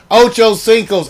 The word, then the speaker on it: Ocho Cinco: and first of all it's mispronounced it's ocho cinco's eight five it's not number's eighty-five i keep telling everybody